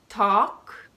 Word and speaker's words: talk: going to tell you ten words those most common in which the L is clearly silent then I'm going to